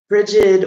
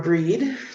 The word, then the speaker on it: Brigid: I'm going to be calling in rigid or breed depending on how you want to pronounce it there's different different pronunciations also st.